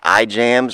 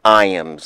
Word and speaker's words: Ijams: ask Iams isn't it ijams or L James no it is pronounced Iams like I and yams so that's how the locals pronounce it it is a kind